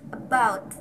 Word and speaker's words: about: word about is pronounced about since the first syllable is unstressed okay next slide psychology's